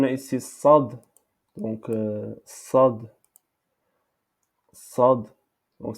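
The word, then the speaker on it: صاد: Sad. Donc, cette lettre en arabe prononce sad. Sad. C'est pas sin. C'est pas sin. C'est pas shin. C'est sad. Sad.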